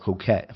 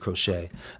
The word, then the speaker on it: Crochet: Garrick Coette, the way I was pronouncing, but Garrett Crochet.